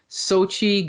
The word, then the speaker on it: Xochitl: Now we're going to jump to America Chavez, played by, I hope I pronounce this right, Xochitl Gomez. Is that right? That's it.